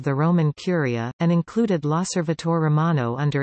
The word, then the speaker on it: L'Osservatore Romano: L'Osservatore Romano, pronounced L'Osservatore Romano, Italian for the Roman Observer, is the daily newspaper